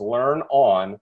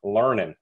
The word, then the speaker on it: LearnOn: Yes, it is pronounced learn on, not learning.